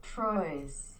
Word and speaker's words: Troyes: actually how you say it recently playing four troyes them lot he did a good job as